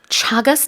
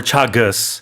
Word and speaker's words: Chagas: This deadly condition is called Chagas disease. Yeah, you can pronounce it chagas or chagus, I think, but it's a harder ch, I believe, than the Korean shagas.